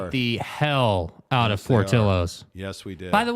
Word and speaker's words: Portillo's: I heard them said, oh, it's Portillo's. No, it's not. It's not Portillo's, dude. It's Portillo's. I'm jerk. fat. I know how to pronounce food.